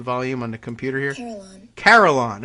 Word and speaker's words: carillon: Carillon. Okay, there you go. So like Caroline, but bells.